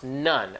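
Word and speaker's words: ن: pronounced what it says we are N it's pronounced none as is n UN but it's we are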